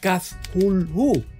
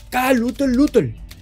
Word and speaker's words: Cthulhu: cuento La llamada de pronunciando aquella extraña palabra como Cthulhu. Cthulhu. De repente, Lovecraft se sorprendió y más tarde me corrigió, diciendo que debería pronunciarse Cthulhu.